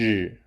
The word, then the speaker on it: 只: To remember the pronunciation and meaning of '只' (zhǐ), we can use "Gee!" as a mnemonic.